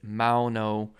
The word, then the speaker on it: Maono: um you know again this is the m-a-o-n-o i believe it's mauno uh devices here so